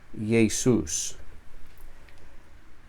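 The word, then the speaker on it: Ἰησοῦς: La letra iota, esta, cuando aparece al principio de una palabra, llevará el espíritu suave, como puedes ver aquí, y se pronuncia como una Y en español. Entonces, esta palabra se pronuncia Jesús.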